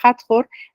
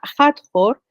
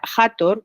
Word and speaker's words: Hathor: La diosa Hathor, que no se pronuncia Hathor, como la mitad de las veces se dicen, porque las H's en egipcio tenían sonido, un sonido J también, más suave que la otra de jamón, por ejemplo, pero es un sonido